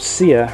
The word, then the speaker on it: Seer: Alright, it's called Sear rock dust, and this is, I think this is about the only version that's available in the UK. And notice how it's spelt, Sear, as in a seer.